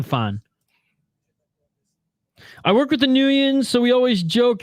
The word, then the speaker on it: Nguyen: Okay, Nguyen.